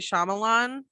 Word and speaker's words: Shyamalan: no no no no like shyamala like kamala okay i'm wrong um hold on let me google it real quick okay oh yeah it's m night shyamalan so he did do